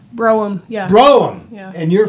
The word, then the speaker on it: Brougham: We have Brougham. Is that how you say it? Brougham? Brougham, yeah.